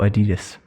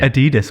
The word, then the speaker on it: Adidas: Nike or Adidas? Adidas. What? You don't say Adidas, do you? Adidas or Adidas?